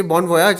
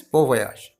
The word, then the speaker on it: bon voyage: You can say bon voyage in English also, but actually it's pronounced as bon voyage. The origin of this word is from the late 17th century. It's basically a French word.